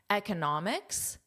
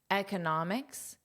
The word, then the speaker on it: economics: Economics. Economists. Economics. Economists. So, the syllable stress is different here.